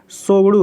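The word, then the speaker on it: Tshogdu: सोगडू है। ठीक है, सोगडू। भूटान की संसद का नाम क्या है? सोगडू है। टी यहाँ पे साइलेंट होगा।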